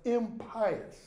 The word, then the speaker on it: impious: is a practice of impious stubbornness or as it's usually pronounced impious what does that mean